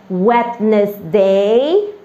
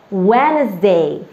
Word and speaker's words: Wednesday: to pronounce it as wetness day that is the wrong one okay the d has to be silent and we have to say it wednesday very good thank you